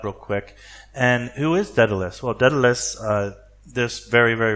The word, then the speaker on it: Daedalus: I tried to go through IPA, which is the International Pronunciation Alphabet, to get the accurate pronunciation of that, and it's an ancient Greek thing, so it's not going to be easy, but it's something like the E and bet, B-E-T, bet, so it's Daedalus, and these two, the